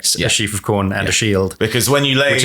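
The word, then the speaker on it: Scyld: his son was called skiled now those words that's not how they should be pronounced in Old English I believe they should be pronounced shafa and Shield or shield and those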